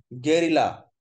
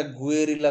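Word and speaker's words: guerrilla: গেরিলা, উচ্চারণটা গুয়েরিলা করা যাবে না।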